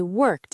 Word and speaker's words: worked: I worked, I studied, I managed. Let's practice that precise pronunciation right now. Listeners, listen to the sharp T sound at the end of worked. Repeat after Paul. I worked as a.